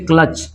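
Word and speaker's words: clutch: जाएगा बच पढ़ेंगे ठीक है ना इसको पढ़ेंगे क्लच इसको क्या पढ़ेंगे क्लच टी साइलेंट हो जाएगा इसको पढ़ेंगे क्लच ठीक है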